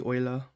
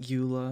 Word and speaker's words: Eula: I just think of, like, if her name was actually supposed to be pronounced like German, it'd be Eula. Not Eula, it'd be Eula. And it sounds like kind of like way of saying like owl. Because owl is Eule.